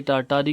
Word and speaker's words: Tartary: आज का जो हमारा टॉपिक है वह तारतारी पोयम है। इसे टारटारी के साथ प्रोनाउंस भी किया जाता है।